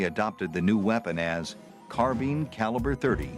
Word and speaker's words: carbine: cry out for mercy so how do you pronounce carbine or carbine well recently we posted a video about the